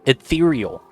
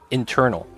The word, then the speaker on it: ethereal: And one of the words that they had was ethereal. I always pronounced it internal, even though there wasn't an N there.